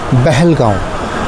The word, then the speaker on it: পেহেলগাঁও: কিন্তু অনেকেই হয়তো জানি না পেহেলগাঁও নামের পিছনে রিজনটা কী। অ্যাকচুয়ালি এর উচ্চারণ বেহেলগাঁও বা বেয়লকি গাঁও।